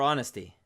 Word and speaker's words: honest: our or air or honesty honest honesty the H is completely silent in those cases okay